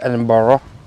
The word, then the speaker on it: Edinburgh: Before we get to Edinburgh, or rather Edinburgh, we stop for a moment at Dunnottar Castle.